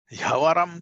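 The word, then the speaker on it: ह्यवरम्: This Yavaram is there are two words joined together. The sandhis, because of the sandhi, that is how they get pronounced. He and Yavaram. That these two. He and Avaram, they have come together.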